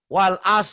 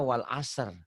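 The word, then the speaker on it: والعصر: Wal as, salah. Harusnya wal asr.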